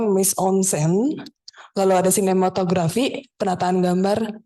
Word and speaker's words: mise en scène: Yang pertama ada tulisannya mise en scène, tapi bacanya mise en scène.